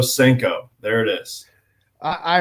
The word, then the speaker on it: Senko: Seno de hulio uh it's spelled a little differently it's se en Koo but I I would choose the Yamamoto senko there it is I